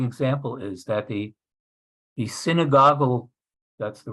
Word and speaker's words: synagogal: a very striking example is that the the synagogal that's the right pronunciation uh organization of the reform movement used